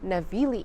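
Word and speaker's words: Navigli: I walked around the navili area I learned that the g is silent on the last day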